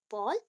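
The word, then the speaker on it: Paul: सो David पॉल ऑसबल। ठीक है, अभी कोई कोई पाउल भी बोलता है, अभी प्रोनाउंसिएशन के अकॉर्डिंग है, आप जैसा याद रख सकते हो वैसा कर लो।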